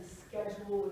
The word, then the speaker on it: schedule: people complain about is pronouncing schedule with a sk instead of a schedule. So schedule is more traditionally British, schedule is more traditionally American. You hear the sk more often in America now.